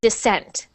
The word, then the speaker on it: descent: So we put the stress on the second syllable. So descent. Descent. Descent. Good, good. Descent. Not descent, but descent. Descent.